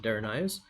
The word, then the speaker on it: Daras: God danas or daras some people pronounce it durus but he himself pronounces it daras that's Terry's real name